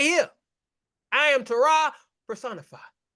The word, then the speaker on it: Terah: isn't it rich that tah or Terror nearly rhymes with error a cosmic era sitting